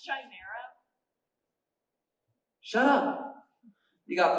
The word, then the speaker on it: Chimera: Pronounced Chimera.